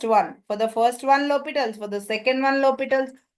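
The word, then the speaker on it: L'Hôpital: by lals limit by El hospitals usually people pronounce it like this but actually it is lital H just silent by lal's rule for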